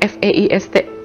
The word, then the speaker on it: Feist: idola aku sampai sekarang namanya feist tulisannya f e i s t fac eh bacanya feist Nah feist itu live